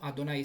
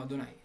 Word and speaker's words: Adonai: la forma cuadritera y esta forma la pronunciamos como adonay siempre que aparece este texto donde están las cuatro consonantes lo leemos como adonay porque era son porque